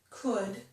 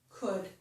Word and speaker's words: could: In these two words, would and could, we do not pronounce the letter L. So it's as if there were no L in those words. Would, could.